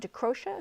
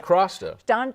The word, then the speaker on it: DeCrosta: There was a comedian at McCurdy's, DeCrocia, is that my pronunciation? DeCrosta. DeCrosta.